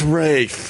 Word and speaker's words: Ralph: would yell at me cuz it's spelled Ralph I go what's up with this Ralph guy it's Rafe it's ra it's like